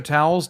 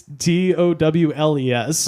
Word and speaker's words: Towles: Spelled like the regular towels, Towels. It's Towles. Oh, Later to be founder of a junk shop where you can buy Dragon energy drink.